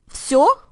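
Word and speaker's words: всё: can just say sure so if I were to spell that out using English letters I would spell it with an F and s a Y and an O Co listen to the native speaker sure so depending on the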